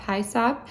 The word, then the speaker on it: hyssop: what I've been told but it's hyssop hi sap I get a purple